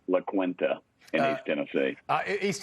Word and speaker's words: La Quinta: hey Rob thanks for having me and it's pronounced La Quinta in East Tennessee uh East Tennessee it's La Quinta in my my nap of the woods Nick